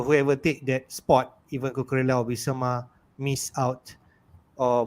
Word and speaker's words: Cucurella: The most recent to leave is how do you pronounce it? Cucurella. Cucurella. Cucurella. Cucurella.